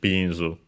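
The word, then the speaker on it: ビーンズ: Accent on the first syllable, so luckily regular, just like in English, binzu.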